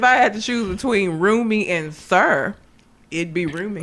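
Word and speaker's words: Rumi: is what it's roomy exactly but not room me it's room me room me yes hers is roomy it's r u Mi I roomy oh yeah I know it ain't spelled like that but it sound like that it does I mean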